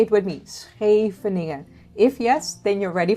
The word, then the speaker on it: Scheveningen: Can you pronounce Scheveningen? Scheveningen. Say it with me. Scheveningen.